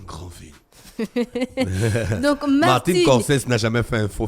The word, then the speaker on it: Scorsese: Martin Scorsese. Oui, Scorsese. le réalisateur... Scorsese, c'est 2 S.